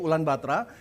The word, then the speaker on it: Ulan Bator: Anda ke ulang baterai tulisannya Ulan bator Tapi bacanya sama orang lokal yaitu ulang baterai mereka di sana ada